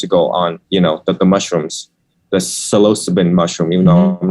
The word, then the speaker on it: psilocybin: I read 6 years ago on, the mushrooms, the psilocybin mushroom, even though I'm not pronouncing it right. I think it's just, you're good. Psilocybin.